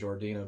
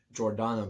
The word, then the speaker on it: Jordana: one paul walker vin diesel michelle rodriguez and jordina brewster which is really cool i think i mispronounced her name jordana brewster my apologies this is the movie that